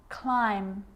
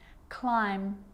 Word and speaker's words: climb: a rule to remember with the letter b it's always silent when it follows the letter m climb crumb lamb thumb dumb